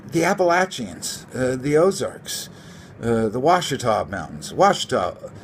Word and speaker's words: Ouachita: you know you the Appalachians the Ozarks the Ouachita Mountains washed up spell Oh ACH ITA but it's pronounced wash atop but they seem like older mountains to me